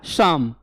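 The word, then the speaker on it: psalm: तो पी भी साइलेंट है और एल भी साइलेंट है इसमें, इसका विशेष ध्यान दीजिएगा। देखिए अभी आप लोग बहुत लोग गलत बता रहे थे, क्या क्या साइलेंट है, पी एंड एल। ये पूछा जा सकता है आपके पेपर में। क्लियर ना। और प्रोनाउंसिएशन क्या होगा, शाम, शाम ऑफ लाइफ जिसको कहते हैं।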